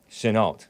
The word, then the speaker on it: Chenault: pronounce it Chenault. Chenault.